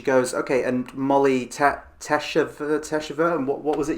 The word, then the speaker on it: teshuvah: here and she goes ok and Molly tap teshuvah teshuvah and what was it you said it